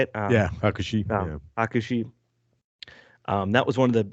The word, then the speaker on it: Hakushi: Yeah, Hakushi.